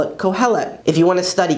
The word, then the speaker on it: קהלת: Ecclesiastes in Hebrew is Kohelet, Kohelet.